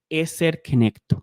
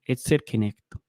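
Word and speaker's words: עזר כנגדו: Esta es la palabra en griego para ayuda idónea y se pronuncia así, eser kenecto, ¿cierto? Eser kenecto. Eser kenecto.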